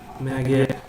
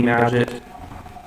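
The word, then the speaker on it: Magit: g is bound to maggot I'm gonna pronounce it it's supposed to be magic just for two because of the magnet which I don't like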